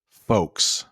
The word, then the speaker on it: folks: bet it will do you know the term folks I know there is an El it but we pronounce it like folks it's just an informal term for people many